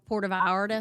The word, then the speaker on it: Puerto Vallarta: That's how you say it when you're in the South, Puerto Vallarta.